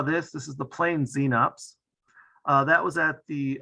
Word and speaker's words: xenops: show up and that's x-e-n-o-p-s i don't know how it's pronounced there but here it's pronounced the xenops southern lap wing plain